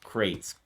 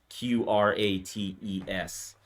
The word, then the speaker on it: Qrates: So you pronounce it crates. I was pronouncing it Q-rates, and I always thought it was like someone asking me for my credit score or something when I was getting emails. I called it Q-rates forever too, but yeah, it's crates,